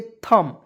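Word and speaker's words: thumb: एच यू एम बी तो देखिएगा इसे पढ़ेंगे थम देखिएगा थू नहीं पढ़िए टी एच से थ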